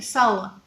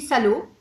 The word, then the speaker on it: salo: ce qu'on appelle ici sal. Sal, ça s'écrit salo, S-A-L-O, donc pas comme en français, mais au niveau de la prononciation c'est sal.